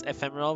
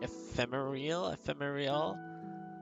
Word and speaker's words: ephemeral: So I would try to pronounce ephemeral with the ethereal vibe, so I was like ephemeral, but there's no E. It's ephemeral. There's no real or whatever, like ethereal.